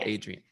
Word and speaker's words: Adrienne: touch so i can see everything okay so adrian's the first person on my list okay and am i saying your name correctly yes that's perfect a3n or adrian adrian adrian okay good i've done this before